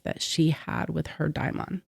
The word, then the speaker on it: daimon: or daimon. And it's spelled Daimon. Hmm. If anybody wanted to research it or look it up yourself or whatever. I think I pronounced it Damon by mistake.